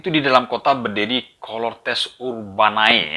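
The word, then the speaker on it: Cohortes Urbanae: Ya, waktu itu di dalam kota berdiri Colortes Urbanai. Ya, bacanya gitu.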